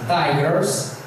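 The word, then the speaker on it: Tigris: O rio Tigre em inglês é pronunciado assim: Tigers.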